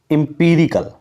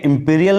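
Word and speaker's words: empirical: अब देखिए नेक्स्ट आपके सामने मोस्ट इंपोर्टेंट वर्ड है इंपीरिकल, ठीक है, इंपीरियल नहीं है, इंपीरिकल है।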